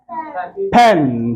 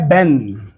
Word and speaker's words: pen: पी, हाँ, PEN, पेन, PEN, पेन, पेन। तो ये कभी लगता है बेन, जब अब इसको आप मिस प्रोनाउंस करते हो लगता है बेन।